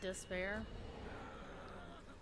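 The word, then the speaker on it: D'Spayre: a character called despair they spell it D apostrophe s-p-a-y-r-e but pronounces despair um and he's known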